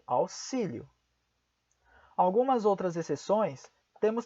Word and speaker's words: auxílio: algumas exceções por exemplo a palavra auxílio é pronunciada como é se Mas porque é uma exceção auxílio em algumas outras exceções